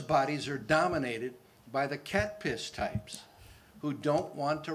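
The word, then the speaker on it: CATPS: I call it cat piss. That's C-A-T-P-S. How else would you pronounce it?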